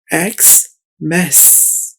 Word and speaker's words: Xmas: अगला लफ्ज है एक्स मैस।